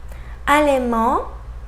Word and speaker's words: allemand: Let's see examples with final D that we don't pronounce either. Allemand, allemand, grand, grand.